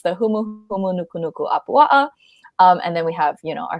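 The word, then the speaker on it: humuhumunukunukuāpuaʻa: Yes, it used to be a tongue twister while we were growing up, but it's the humu humu nuku nuku apua'a.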